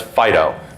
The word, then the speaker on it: FD.io: stands for fast data typically ftil will be pronounced as Fido because we're cutesy like